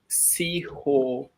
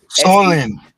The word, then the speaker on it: Siollun: I'll write it down for those who want to know how to pronounce this. Seehonlun. So. Now swallow now, like swallow.